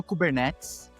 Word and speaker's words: Kubernetes: Ó, eu posso começar respondendo a como se fala? Cubernets ou kubernetes ou cubernetis, tá? Eh, porque eu falo cubernetes, tá? Eh, eu escolhi a portuguesar todas essas palavras.